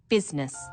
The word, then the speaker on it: business: o u g words business people don't pronounce the I business sometimes misspellings occur because